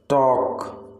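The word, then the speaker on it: talk: आपका next word है बातचीत, बातचीत का मतलब है टॉक, टॉक। तो आपका टॉक में जो साइलेंट लेटर है वो है एल, आप टॉक को प्रोनाउंस करते समय एल को यूज नहीं करते हैं।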